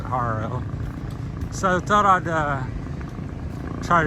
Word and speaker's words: Jaro: I say Jaro because it starts with a J, but they pronounce it Jaro.